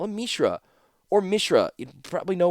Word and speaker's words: Mishra: name of 's brother Mishra I was saying Mishra for two whole books and it's Mishra so if you go